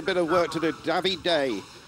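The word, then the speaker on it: Davide: of work to do davey day that's how apparently we pronounce it and uh gabby day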